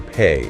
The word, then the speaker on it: Pe: Okay, so say the letter Pe or P. Right now, make the sound P. Pe is a labial letter. It is pronounced entirely with the lips.